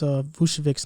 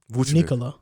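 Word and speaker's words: Vučević: That's the same way how you pronounce Vucevic's name. Vucevic.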